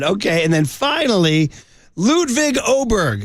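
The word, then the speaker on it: Åberg: Okay, and then finally, Ludwig Oberg. It's spelled A-B-E-R-G, but it's pronounced O-B-E-R-G, so that's Chris Vernon's final riff here.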